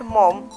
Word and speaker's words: Maugham: Here G-H-A that is silent in his surname.